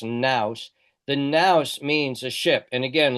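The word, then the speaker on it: νοῦς: The very formula nouse and there's the there's the Greek for now the the V is actually a new that's an N in Greek that's pronounced Nouse. The Nouse means a ship.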